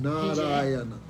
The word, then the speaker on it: Narayana: So Narayan, 4 syllables. Narayan 4 hece. Narayana, 4.